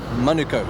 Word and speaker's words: Manukau: Oh, pronunciation, fella? Manukau.